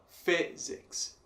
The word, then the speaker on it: physics: Em inglês a gente terá physics. Physics. Fi também sendo a forte.